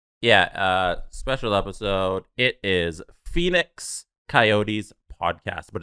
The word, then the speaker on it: PHNX: It is Phoenix Coyotes Podcast, but it's spelled PHNX.